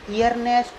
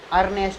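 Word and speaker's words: earnest: तो देखो ई के ठीक बाद AR आ गया तो इसे ईयर नेस्ट नहीं पढ़ेंगे, ईयर नेस्ट तो गलत हो जाएगा। ई का प्रोनाउंसिएशन नहीं करेंगे हम, ई का नहीं करेंगे तो अर्नेस्ट पढ़ेंगे। क्या पढ़ेंगे? इसे अर्नेस्ट। ऐसे EARN, जैसे पढ़ते हैं अर्न।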